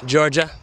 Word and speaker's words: Georgia: couple more days in Georgia and I was just walking in you got to say Georgia like it's spelled j a w Joe j a kind of like Jaa oh man the sun